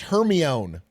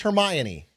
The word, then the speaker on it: Hermione: That's like when I read all the Harry Potter books and I thought it was pronounced Hermione. Okay, it's Hermione.